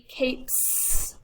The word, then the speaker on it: capes: Feel your throat when you say the P. Cape. P, p, p. It's not voiced. So it'd be capes with an S.